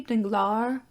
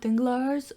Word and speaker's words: Danglars: starts talking to Morel you know it could be danglar and not danglars but I always pronounce it dings because is an S at the end but it's French and French is apparently more messed up than English and English is pretty messed up still want to